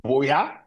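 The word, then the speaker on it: Buea: I mean, Cameroon, it's pronounced Boya. Boya is just like Jos in Nigeria, you know? So that's the name of the town, Boya.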